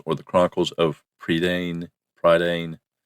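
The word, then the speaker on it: Prydain: of a book from a series called The predan Chronicles or The Chronicles of predan pridan it's spelled p r y d a i n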